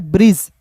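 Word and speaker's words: bridge: अंतिम में इ आएगा तो ये साइलेंट होता है। लेकिन अर्थ बदलता है दोस्तों। ठीक है? देखिए यहां पे बी आर आई डी ई जी ई को हमने आपको पढ़ा दिया है। ब्रिज। क्या पढ़ते हैं? ब्रिज पढ़ते हैं दोस्तों।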